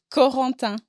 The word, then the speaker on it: Corentin: France that is called Corentin. Corentin? Help me with my pronunciation, Miss Girl. Help me with my pronunciation. Corentin. Hold on. Corentin. Corentin. Yes. Oh, I know that's right. Yeah. You said it right.